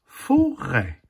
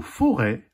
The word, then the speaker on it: forêt: se prononce et la forêt la forêt leçon s écrie e accent circonflexe comme dans la crêpe dans le mot forêt le thé à la fin est muet dernière illustration la fontaine